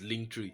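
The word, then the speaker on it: Linktree: if you have to pronounce it once like that this is link tree so we are going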